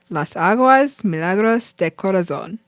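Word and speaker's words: Las Aguas Milagros de Corazón: It's called Las Aguas Milagros de Corazon, or the Miracle Waters of the Heart. He also says it a lot wider. Okay, I'm gonna do my best. Las Aguas Milagros de Corazon.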